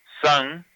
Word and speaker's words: san: san, S-A-N, la N es nasalizada, o sea que la N como que no se pronuncia completamente, sino se pronuncia así, sa, kate sa.